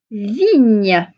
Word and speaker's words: vigne: Donc, tu te rappelles, le son gne, c'est un G et un N. Alors, on y va. Vigne.